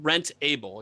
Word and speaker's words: Rentable: so becoming rentable so it's the rent with the focus on the able okay well thanks so